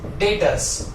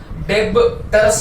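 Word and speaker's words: debtors: Second term, that is डेटर्स। Okay, डेटर्स, डेबटर्स नहीं बोलने का, डेटर्स, बी साइलेंट है।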